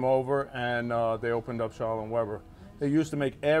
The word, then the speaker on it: Schaller and Weber: Schaller and Weber, am I saying it right? Schaller and Weber, exactly.